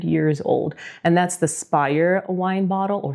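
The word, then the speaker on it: Speyer: is nearly 1,600 years old and that's the Spire wine bottle or spay if you pronounce it right uh which is the wine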